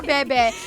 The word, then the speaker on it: Bebe: How do you pronounce his name? Bebe or Bibi? Bebe!